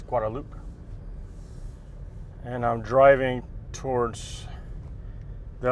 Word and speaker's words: Guadeloupe: Some people might think it's pronounced Guadalupe, but it's Guadeloupe.